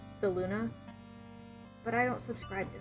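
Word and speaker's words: Selûne: we pronounce it as Saloon in the um in the campaign but uh I guess the official pronunciation according to Baldur's Gate is uh saluna but I don't subscribe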